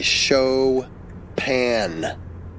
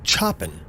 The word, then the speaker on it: Chopin: to do it again and really emphasize the name saying as phonetically as I could like show pan you don't have anything and then I did that a couple more times before I said it more like Chopin as in chopping wood